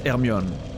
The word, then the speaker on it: Hermione: broken by the way I hate the pronunciation hermion just saying it's herion and it will always be herion it's a I'm sure